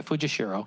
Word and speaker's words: Fujishiro: 35 years ago, a small delegation from the town of, you're going to have to pronounce that. Fujishiro? Okay, Fujishiro, Japan, visited our city to propose the building of a sister city relationship.